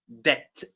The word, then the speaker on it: debt: So this word is actually pronounced debt debt. So the B is silent and as I said